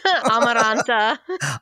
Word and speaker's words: Amaranta: Amaranta.